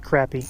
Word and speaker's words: crappie: southeasterners it's pretty much only time only location i've actually heard it pronounced crappy consistently every once in a while